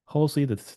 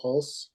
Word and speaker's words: Hulse: And so, looks like we have Daryl Holy the second. Am I pronouncing your name, last name correctly? It's actually Daryl Hulse.